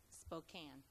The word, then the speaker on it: Spokane: All right, it's a Spokane. I never said it right.